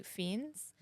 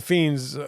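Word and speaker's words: Fiennes: I say yeah yeah I say Ray fiends even though it says Ralph like that's how it's spelled and you say Rafe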